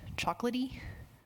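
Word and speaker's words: Chocolatey: Mack but we do have Linux brew and chocolaty that's the correct pronunciation this on any of those machines first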